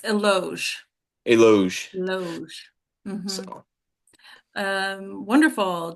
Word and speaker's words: Eloge: Elegy and Mark. Mark, it's Eloge.